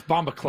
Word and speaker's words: bombaclat: Uh Chris says as a Jamaican that's not how it's spelled. That it's bombaclat. Bombaclat. Yeah. C l a t. I'm sorry. Bombaclat. Yeah. Big big bombaclat. Yeah, that's right. You have to Okay.